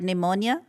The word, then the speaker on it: pneumonia: Because, it's not spelled as it sounds, right? Because there's a P in there and all that.